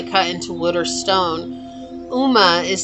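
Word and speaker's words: Ogma: says, "Uma, pronounced Uma, is the Celtic warrior god of literature, eloquent, eloquent, and speech.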